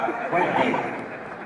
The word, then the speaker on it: Quentin: Français, là, le nom, la prononciation du nom de Quentin, à l'américaine, comme monsieur le maire. Allez-y, monsieur le maire, je vous entends. Voilà, Quentin.